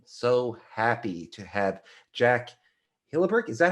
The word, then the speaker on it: Hillebecht: and i am so happy to have jack hilleberg is that how you pronounce your last yes i was like going